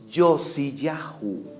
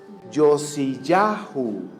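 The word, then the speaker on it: יֹאשִׁיָּהוּ: Ahora, fíjense cómo se dice Josías en el hebreo. Yosiyahú. ¿Cómo se dice Josías? Yosiyahú.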